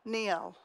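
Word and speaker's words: Njál: So the other saga that's spelled N-J-A-L, Neil.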